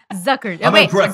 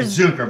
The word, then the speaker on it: Zuker: was like definitely yeah my last name is zuker which means sugar so I think people think that so funny inadvertent right Zucker zuker or zuker but there's no I mean I pronounce it zuker so no one puts the c in there someone left the